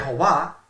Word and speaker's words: Jehová: nos muestra hasta la saciedad que y a Jehová es la pronunciación correcta de nombre divino esto nos muestra